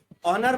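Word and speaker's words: honour: ठीक है, ऑनर में एच साइलेंट रहता है, फर्स्ट लेटर।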